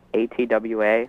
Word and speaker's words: ATWA: The song ATWA, how do you pronounce it?